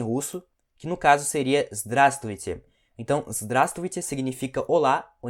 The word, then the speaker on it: Здравствуйте: Então, é здраст, essa aqui a gente come essa letra aqui, ó, deixa eu apagar ela, aí fica здравствуйте, ok?